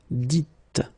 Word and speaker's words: dites: So it's not vous disiez, okay, as many would think, but then it's vous dites, okay, final S not pronounced, vous dites.